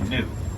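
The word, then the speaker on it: gnu: It's actually new. It's spelled G-N-U.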